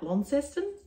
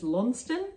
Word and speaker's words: Launceston: and beautiful airbnb we we stayed at called lonston farm and for our australian for my australian friends uh it's spelt like launceston but they all laugh at me if i say that because it's known as longstand the sess is silent like worcester um so